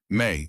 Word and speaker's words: Mei: May, if you're going to be here all winter, you might as well use my name.